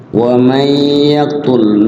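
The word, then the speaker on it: وَمَن يَقْتُلْ: ومن يقتل, wa may yaqtul, nun mati ketemu ya, wa may, wa ma, wa man gitu, nun mati ketemu ya jadi idgham bi gunnah ya, nunnya diidghamkan ke huruf gunnah.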